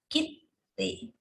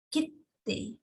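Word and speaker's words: きって: Jadi ini ya, kitte, kitte, yoka. Ini double konsonan.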